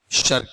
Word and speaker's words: शर्क: ये देखो इसका उच्चारण है ना, इसका उच्चारण इनके बीच में है, इसके और इसके बीच का उच्चारण है ये। ना तो ये शक है उर्दू वाला, ना ये आपका वहां पर शरक है, ठीक है। हल्का सा है यहां पर, हाफ रे साउंड है इसमें।